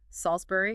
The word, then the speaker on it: Salisbury: If you see Salisbury or Canterbury, you know that final sound is fixed. Salsbury, Canterbury.